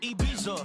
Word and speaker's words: Ibiza: Yeah, it's pronounced Ibiza, actually. What's the difference, man? Ibiza, Ibiza, you won't don't see me in neither.